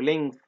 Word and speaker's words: length: Number five, can you space the length, خلي بالك بننطق الجي خفيفة أو length, can you space the